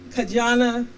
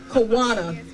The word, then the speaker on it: Kawana: and to of course our fabulous MC Miss kajana I know I mispronounced your name kaana kanana our local recovery coordinator they are